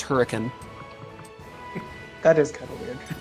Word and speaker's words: Hurricane: We have a town spelled hurricane, pronounced hurricane.